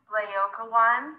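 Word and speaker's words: Laocoön: Laocoon and his sons is pronounced Laocoon and his sons.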